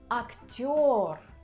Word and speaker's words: актёр: But there are letters in Russian language which always under stress, and this is letter yo. So if you see this letter, you can be sure that the stress is on this letter.